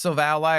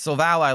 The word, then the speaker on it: Silvally: We evolve into, and yes, it's pronounced SILVALLY. It's not SILVALLY. It's SILVALLY like it's an ally.